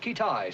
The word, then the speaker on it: Kitaj: Have we located this fellow Kitaj yet? Pronounced Kitai, sir.